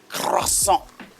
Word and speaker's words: croissant: Mary Sue has made a croissant for breakfast. You got to say it like croissant. Like real French.